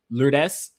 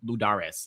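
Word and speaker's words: Lurdes: Um, you do have uh Manuel and this is where I need to apologize because this is like where I have been pronouncing it incorrectly. Lures Manuel, right? I I don't know why I was saying Ludares.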